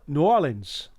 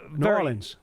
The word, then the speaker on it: New Orleans: They don't even say it the way it's spelled. They kind of run it together. But Paul, New Orleans.